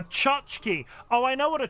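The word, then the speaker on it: tchotchke: dozen so many more pronounce it like a chachki oh I know what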